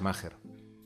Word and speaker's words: Maher: Vale, señor Maher. No, es Maher. La H suena como si fuese una G. Maher. Y con un acento en la, llana. Está bien.